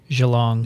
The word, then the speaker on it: Geelong: and i'm going to gee long oh you're going to have great time because i pronounced it and there was a australian scientist at the hamilton she said it's actually geelong you're going to see